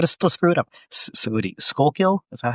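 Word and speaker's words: Schuylkill: Skullkill. Is that how you pronounce it?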